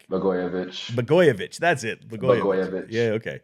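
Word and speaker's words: Blagojevich: blo how do you say this guy's name bogovic bich bovich that's it bich yeah okay yeah so Trump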